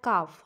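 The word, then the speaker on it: calf: একটা কনসোনেন্ট থাকে সেক্ষেত্রে এল এর উচ্চারণটা আমরা করবো না সি এ এল এফ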